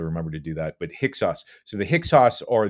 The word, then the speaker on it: Hyksos: the ancient Israelites in hixos we're talking about the same group in fact I would say hicksauce is another way of pronouncing it which is probably the correct way so I'll I'll try